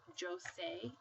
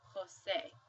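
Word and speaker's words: José: seen this name before you don't pronounce it as Jose you actually say Jose because J sounds like H so we would pronounce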